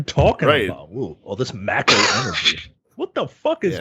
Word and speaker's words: Mako: It is you descending into the first, apparently it's pronounced Mako, by the way.